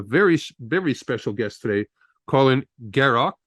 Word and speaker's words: Garrioch: Have a very special guest today, Colin Garrioch. Gary, did I pronounce it right? Garrioch, yes.